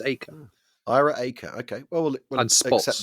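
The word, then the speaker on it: Eaker: get to do it 25 times yeah so EAS the commander-in-chief of eth Air Force apparently pronounced AKA really we Brits want to call him EA but apparently it's AKA Ira AKA okay well accept that and he's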